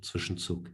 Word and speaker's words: Zwischenzug: As German is my first language, and Zwischenzug is a German word. I choose to pronounce it correctly.